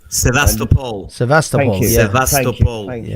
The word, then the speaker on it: Sevastopol: It was on the 26th of February 2014 when Spetsnaz went into Sevastopol, excuse my pronunciation. Sevastopol.